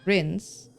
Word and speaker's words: Grin: Have, glove, halt, Grin is pronounced like grins, rhyming with bins.